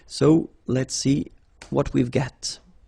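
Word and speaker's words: gris: the same no no okay G don't pronounce the S but then for the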